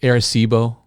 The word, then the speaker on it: Arecibo: yours is that, I just make sure I'm pronouncing this right. Is it Arecibo?